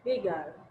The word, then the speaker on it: beggar: Então, dá para ver que no UK eles falam beggar. Beggar. Beggar. Beggar. Né? Beggar. Beggar. E nos Estados Unidos é bigger. Beggar.